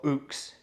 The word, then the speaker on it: ukes: strings not four strings like most ukes but or ooks if you i apologize for ukulele um people and i was pronouncing it wrong there so it has